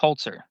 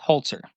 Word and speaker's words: Holzer: Um, it is pronounced Holtzer. Is it? I thought it was Holzer. No, it's Holtzer.